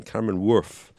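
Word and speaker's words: Cameron Wurf: Is that correct? The correct pronunciation? Cameron Worth. It sounds like something a dog might say.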